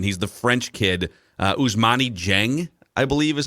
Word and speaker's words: Dieng: He's the French kid, Ousmane Dieng, I believe is how you pronounce it. Yes, Dieng.